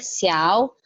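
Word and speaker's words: 小: Jadi kata ketiga, nada ketiga, cara bacanya xiao.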